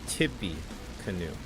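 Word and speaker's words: Tippecanoe: in Massachusetts n about Tippy Canoe is pronounced as Tippy Canoe oh my goodness you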